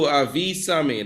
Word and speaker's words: avísame: Advise me what to do, avísame. That's another way that you could ask for advice. It's kind of a command, but it can be used still. Avísame, you notice the accent on the I?